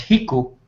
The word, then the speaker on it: Rico: second one would be uh Rico which we down here we pronounce hiu it means r and